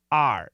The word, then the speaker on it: hour: say hour, we say are. So actually these two, I should say this and this, those two words are homonyms. They sound the same. But in daily English, this word actually sounds like A-R-E.